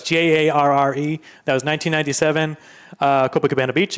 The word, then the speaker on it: Jarre: It's so pronunciation. I'm guessing it's Jean-Michel. Yes. Jarre. Yep. It's Jarre.